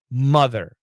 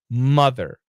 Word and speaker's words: mother: explain that pronunciation is Mother Mother the O is pronounced as a short u sound and the short u